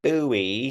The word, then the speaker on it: Bowie: So it's oh, just, a, oh, but it's spelled the exact same way, like David Bowie, but it's Bowie. So it's just, okay.